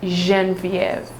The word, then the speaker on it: Genevieve: a proper way well what i call myself and what most um people call me is genevieve yes but french-wise it's pronounced jean-viv oh wow man i